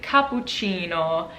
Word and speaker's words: cappuccino: Now, if a C is followed by an A, O, or a U, it is a k sound, like cappuccino. Actually, cappuccino has a C with